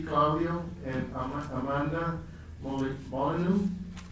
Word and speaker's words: Molyneux: Claudio and Amanda Molyneux. How do you pronounce that? Molyneux, okay.